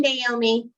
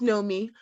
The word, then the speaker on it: Naomi: so how about you naomi are you talking about me i'm sorry i'm pronouncing your name incorrectly yeah it's know me um no that's not